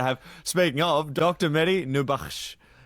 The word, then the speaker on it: Nourbakhsh: Medi Nubash.